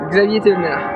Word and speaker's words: Xavier Thévenard: Brian Pavlov, I run far here with Xavier Thévenard, or that's how I would say it in English. What is your name? Quel est ton nom en français? Tu peux le prononcer en anglais. Xavier Thévenard.